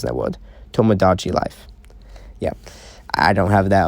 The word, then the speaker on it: Tomodachi Life: most part and that's how it is until tomodanchi life i think i pronounced that one but it's a hard pronounced in that world tomodachi life yeah i don't have that up on the